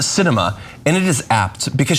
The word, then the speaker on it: Sinema: the Biden Administration uh the Arizona senator's name is pronounced Cinema and it is apt